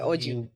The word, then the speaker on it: Oji: did we get did we get a pronunciation Oji.